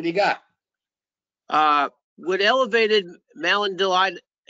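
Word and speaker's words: malondialdehyde: Would elevated malondaldehyde, how do you say that?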